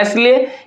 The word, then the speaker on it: aisle: हुआ, इसको हम लोग पढ़ते हैं एसले, ये में क्या होता है S हमारा क्या होता है इसमें साइलेंट होता है, इसमें S क्या साइलेंट है।